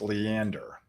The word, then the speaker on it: Leander: oh leander hey thanks nathan so leander it's pronounced leander and leander thank you i've been to round rock i've